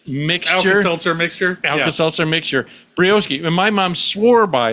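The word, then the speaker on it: Brioschi: Brioski is like the precursor.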